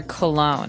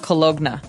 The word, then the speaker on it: cologne: men wear cologne and this word is very funny looking it ends with uh it it's spelled c o l o g n e so you don't really say the g it's not cologna right it's cologne and it's something that